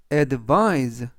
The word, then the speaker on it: advise: 뜻이 되겠습니다 이번 단어는 advise advise advice라고 발음하시면 되겠고요 이때 강세는 아이의 강세가 있고요 그래서 advice라고 발음하시면 되겠습니다 그리고 뒷부분에 있는는 이번 단어에서 스가 아니라 즈 품사는 동사 뜻은 조하다